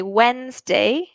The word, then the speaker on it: Wednesday: Tuesday Tuesday Wednesday so remember we don't really pronounce that D we just say Wednesday then this one is